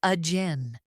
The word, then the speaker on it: again: Americans reduce them. Listen. About becomes about. Support becomes support. Again becomes a jin.